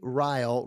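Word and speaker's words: Ryle: believe it why don't we say um J riy riy is spelled r y l e the book is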